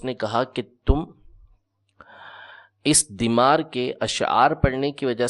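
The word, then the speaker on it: ضمار: کو پوجا کرتے تھے۔ ضاد میم الف را، دیمار۔ دیمار اس کا صحیح تلفظ ہے، بعض نے اس کو دمار بھی پڑھا ہے۔ اس کی عبادت کرتے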